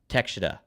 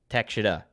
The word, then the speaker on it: Takeshita: It's Takeshita. Thank you, Takeshita. Alt Jake, helping me out here.